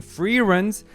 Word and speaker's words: Frieren: more and yes Rejoice because I'll be properly pronouncing Free Run's name in this episode finally let's tune in